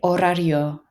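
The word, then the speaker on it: horario: a b bball l orario that the H is completely silent this word here en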